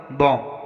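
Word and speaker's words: bomb: For example बॉम्ब, यहाँ पर एम के बाद बी आया है तो यहाँ पर हम बी का उच्चारण नहीं करेंगे।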